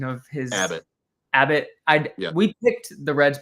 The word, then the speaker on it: Abbott: Um, is it is it a bot? Is that the correct pronunciation of his Abbott? Abbott.